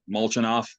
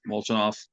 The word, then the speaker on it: Molchanov: I'm gonna try to pronounce his name, Molchanov. Molchanov.